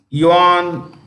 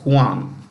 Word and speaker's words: Juan: it's director General is Johan Carlos Gomez you simply write Johan Gomez he belongs to Colombia you want Gomez Juan that's how they pronounce Juan Juan Gomez belongs to